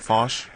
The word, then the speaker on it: Foch: work with the Nina fos project uh is am I pronouncing your name right fos fos yes F well uh I